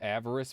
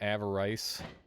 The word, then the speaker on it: avarice: It's pronounced avarice, by the way, not avarice.